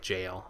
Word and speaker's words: gaol: me on ghoul their gaol and said it actually is pronounced like jail apparently so so yeah